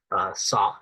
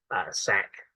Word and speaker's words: Sauk: number one who is a sock or sack Chief I've heard it pronounced both but also you have